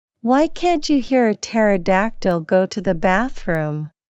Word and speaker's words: pterodactyl: can't you hear a pterodactyl go to the bathroom H I don't know why because the PE is silent that's hilarious thanks for